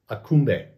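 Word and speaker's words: Aksumbe: that was sold as akumbe now it spells differently it spells a-k-s-u-m-b-e but it's pronounced akumbe and also it was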